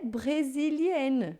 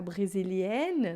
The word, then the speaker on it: brésilienne: Elle est brésilienne, né? Então eu tenho o ENN, aí vai ficar mais aberto, o som vai ficar brésilienne, não é brésilien.